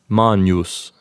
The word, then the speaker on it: Magnus: for Magnus Magnum Magnum keep in mind that if you're using ecclesiastical pronunciation Magnus will sound something like mon use so far all the